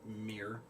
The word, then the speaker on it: mirror: because I can't stand people who say mirror like one syllable because there's two syllables so that weird mirror